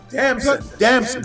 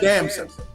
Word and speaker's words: Damson: Damson. It's like pronounced Damson. Damson. Oh.